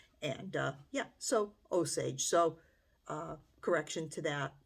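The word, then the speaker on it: Osage: of the uh Native American tribe I was pronouncing it as oage and it should be oage um it's one of those words when you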